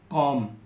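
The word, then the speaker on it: comb: बाद टी से पहले एम के बाद टी से पहले बी आता है तो बी को पढ़ा नहीं जाता है जैसे लिखा सीओ एम बी इसे पढ़ेंगे कॉम टी एच एम बी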